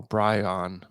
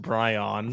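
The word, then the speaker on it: Bryn: has the oh Brian yeah that's how it's pronounced Brian from at Brian Briggs one it's BR r y n it's you'd still say Brian though oh yeah Bri Bri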